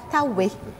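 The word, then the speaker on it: Taouey: à Marie amaba la bonne réponse est la tawé ça s'écrit t a o u e y quelle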